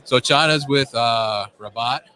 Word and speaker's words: Rabot: it's pronounced Rabot. And Rabot.